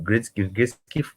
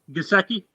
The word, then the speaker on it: Gesicki: Grisky, I can't really pronounce his name. Gesicki? Gesicki, yeah, I like Gesicki because he's a fearless